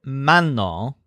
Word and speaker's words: mano: for washing the word man all with a stress on man means hand now note